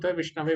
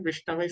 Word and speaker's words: विष्णवे: जो बुद्धिमान व्यक्ति हो विष्णवे बोलता है तो विषण क्या है गलत उच्चारण है विष्णवे सही उच्चारण है संस्कृत के अगर व्याकरण